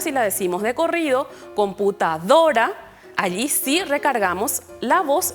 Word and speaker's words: computadora: mayor fuerza por ejemplo computadora vemos que la sílaba más fuerte en la que recae el sonido es la penúltima sílaba do decimos computa adora Entonces